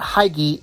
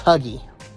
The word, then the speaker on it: Hygge: Like, it's not Hygge, it's Huggy. I know it's spelled Hy, but it is Huggy, not Hygge.